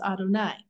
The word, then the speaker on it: Adonai: name God's four-letter name is yud and V which we pronounce Adonai but sometimes we use